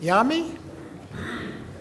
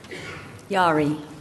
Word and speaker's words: Yari: Elizabeth, is it Yami? Is that the correct pronunciation? Yari. Yari. Okay, I Yeah.